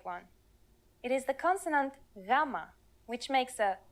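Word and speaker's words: γάμμα: exact english equivalent most people treat it like a g but it is softer more like the y sound in you or young here's the uppercase form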